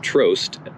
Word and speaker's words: Tru: y Legend 6 Tru oh pronounced tro as in Road slices as a Virginia